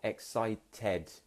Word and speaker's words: excited: So it ends in ed, but we say it very differently. It's not excited, it's excited. That's how British people would pronounce it.